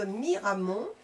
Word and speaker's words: Miramont: Donc vous pouvez écrire à Jean-Marie Balou B A L O U T Prargan tuas rue de Miramont comme ça se prononce Miramon 47350 Saint Bartelémi d'jeunet des apostrophes A G e N A I S.